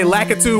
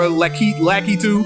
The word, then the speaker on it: Lakitu: Spider said it's pronounced Lakitu, not there's different ways of saying it. There's no one pronunciation. You can say Lakitu or Lakitu. Lakitu. People say it different ways.